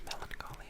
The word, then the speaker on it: melancholy: the first one is melancholy Melancholy Melancholy Melancholy Melancholy Melancholy Melancholy Melancholy Melancholy Melancholy I really like this one as well anything with like that hard c h sounds like architect Melancholy Orchid um where